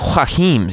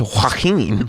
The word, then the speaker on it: Joaquin: It's not Joaquims. It's Joaquin. Sorry, I mispronounced it.